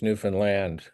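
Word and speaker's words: Newfoundland: that of course the the correct Canadian pronunciation is Newan land or new they yeah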